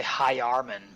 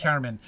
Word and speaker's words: hyarmen: It's hjarmen. 2 syllables. It's not 3 syllables. It's hjarmen. Hjarmen. The HY is the consonantal sound. Yeah. Yeah. Hjarmen. Like saying huge or hue.